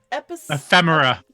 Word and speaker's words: ephemera: Handouts and, how do I pronounce the word? Ephemera.